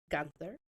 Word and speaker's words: Guenther: I have a fellow adoptee and his name is Wil Wilson Gunther. Yep. Did I pronounce that right?